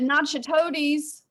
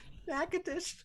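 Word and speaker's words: Natchitoches: Cam Brown said Nacho Toadies, Louisiana. You get it? That is not how you pronounce that. Not at all. How's it pronounced? Nakadish.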